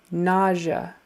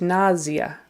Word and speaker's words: nausea: Nausea is an interesting word in English. Actually, it's really pronounced nausea with more of a Z. Nausea. And the primary accent is on the first syllable.